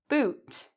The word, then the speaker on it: boot: In this case, the lips are rounded, boot. So in boot, if I slow it down, my lips actually make a circle. Boot, boot, ooh. Okay, so it has a circle sound, an ooh sound.